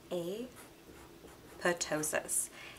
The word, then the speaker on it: apoptosis: your cell dies that's called a potosis it is spelled apoptosis you can say it however you like but this is cell